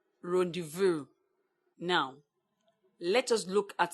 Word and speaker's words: rendezvous: you spell for instance you spell render Vaz bond pronounce rendezvous now let us look